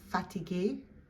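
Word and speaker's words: fatiguée: And fatigué, fatigué. Over here, we do add that final E for the feminine form, but we don't pronounce it, so it sounds the same.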